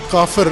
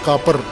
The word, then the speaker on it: کافر: اس کے لیے لفظ کافر استعمال کرتے ہیں. البتہ پشتو لہجے میں کاپر کہتے ہیں، کاپر.